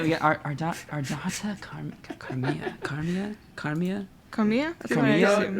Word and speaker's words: Ardata Carmia: Ardata Carmia. Ardata Carmia. That's what I've arbitrarily decided. That's how you pronounce her name.